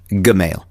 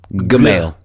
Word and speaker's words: Gmail: You keep getting that wrong. You realized last week. It's a hard G. Gmail. It's a hard G. Hard G.